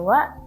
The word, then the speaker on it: は: ni wa nani Nani Dedes Qodir untuk partikel wa di sini ada beberapa hal yang harus diperhatikan yang pertama nusense itu kan